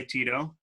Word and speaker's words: Tito: My name's, I go by Tito. You know, it rhymes with Cheeto and burrito.